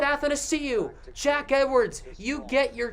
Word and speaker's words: Athanasiou: He said Athanasiou.